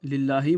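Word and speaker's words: لِلَّهِ: Encore une fois, lillahi, vous avez un lam en bas duquel vous avez un zér ou un kasra. C'est pour ça que ça va être prononcé lillahi.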